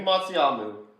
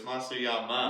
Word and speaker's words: Matsuyama: It's Yama. There's an A. That is disrespect on the family and tradition. Matsuyamu? It's not Matsuyama. Matsuyamu. It's Matsuyama. Matsuyama.